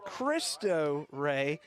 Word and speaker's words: Cristo Rey: We were told the pronunciation is Cristo Rey, but of course in Spanish and Italian language, it would typically be pronounced Cristo. Um, but we did ask someone on the the the Cristo team and they said Cristo, so we'll go with that.